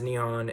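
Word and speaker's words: 日本: eleventh most populated country in the world Japan pronounced neon as a multi-party bicameral parliamentary system where the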